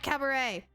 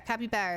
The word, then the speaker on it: Capybara: Or Capybara. Capybara is how you say it. I keep pronouncing the name wrong until I remember how he says it.